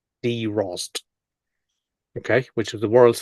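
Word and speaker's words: Drozd: thrush in English oh nice s Focus it's pronounced d Ros okay which is the world's first hard active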